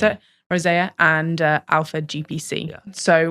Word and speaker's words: rosea: So previously, Rise was Bacopa Monnieri, Rhodiola Rosie. Is that how you pronounce it? Rosea, and Alpha GPC.